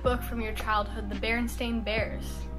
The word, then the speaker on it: Berenstain: you think it spelled everyone always thought it was like stein s t e i n after looking back it's been s-t-a-i-n berenstain and like there are